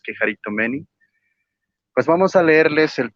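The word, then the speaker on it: κεχαριτωμένη: Y con respecto a lo de Quejaritomeni o Quejaritomene, como él lo quiera llamar, pero la pronunciación real es Quejaritomeni, pues vamos a leerles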